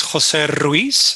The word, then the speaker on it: Ruiz: My name is Jose Ruiz. Don't worry, you don't have to roll your R's. You can just call me Jose.